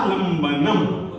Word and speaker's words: लंबन: फ ब भ म तो इसीलिए म तो लंबन वालनमनल में जो उच्चारण करेंगे आप अनुस्वार का वो आधे म के रूप में करेंगे अनुस्वार का उच्चारण हमेशा